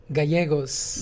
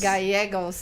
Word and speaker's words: Gallegos: me today Steve, I'm going to try this, Gallegos. Did I say it right? You did it right. With a name like, I care very much. All right, but say it better. Gallegos. Gallegos.